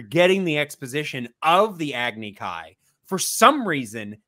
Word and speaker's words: Agni Kai: the exposition of the Agni Kai. For some reason, they had that kid pronounce it Agni Ki, which is ridiculous because that was actually pronounced correct in the series.